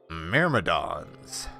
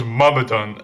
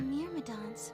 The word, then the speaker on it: Myrmidons: Well, I looked it up, codes, and it gave me the British pronunciation, which is Mummadon.